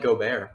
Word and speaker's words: Gobert: It's pronounced Gobert.